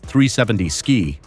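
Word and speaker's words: 370Zki: The 370 Ziki, pronounced 370 Ski.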